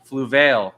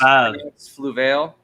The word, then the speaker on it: Fluval: And then we did another scape in Orlando this past Aquashella for the Fluval contest. Did you know it's Fluval?